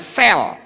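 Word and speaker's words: צלם: Dan kata gambar itu dalam bahasa Ibrani ditulis kata sel. Sade dan lamet, bacanya sel.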